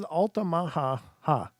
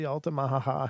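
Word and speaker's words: Altamaha: weird name this is alamaha ha alamaha ha and it's spelled a l t a m a ha A- ha so it's the Ala Maha I'm sorry I'm not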